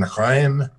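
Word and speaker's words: Reims: yourself a bit hi jim i'm here in graeme france and if you don't if that doesn't sound familiar to you it's spelled r-e-i-m-s and among other things it has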